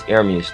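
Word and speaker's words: Ermias: It's Hermes, though. That's how you say it.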